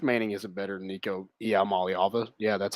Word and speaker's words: Iamaleava: But how much Arch Manning isn't better than Nico Iamaleava.